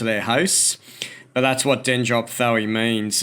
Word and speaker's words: Dendrophthoe: But we've got dendro in there, which means tree. And then we've got sort of a PHTHOE at the end. Dendrophthoe is how I've heard some people pronounce it.